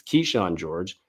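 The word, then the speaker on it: Kyshawn George: Keyshawn George, I always get the name wrong. It's Keyshawn George.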